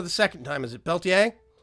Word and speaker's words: Peltier: Is it Peltier? Yeah, the R is silent.